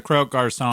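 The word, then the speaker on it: Croque Garçon: my god sorry folks it's the crow car song pardon my french it rhymes with smoke cars on and is a 1/3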